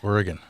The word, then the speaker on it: Oregon: Oregon.